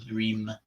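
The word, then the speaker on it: Hlrim: and that mantra is Om Lrim, H-L-R-I-M, Om Lrim Nama, Om, great, creative, expansive, meditative mantra. Lrim, which is Baglamukhi's bij or seed syllable mantra, and then Nama, which means reverence to, or we bow to.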